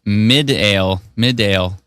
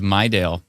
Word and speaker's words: Midale: For some reason, the female voice on the emergency alert through the radio in Estevan pronounced it Midale instead of Mydale.